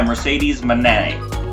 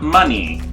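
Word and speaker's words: Mercedes Moné: But point stands to get the horns this time for the TVs championship currently held by Mercedes Manet. Say it properly, not money, not moan man.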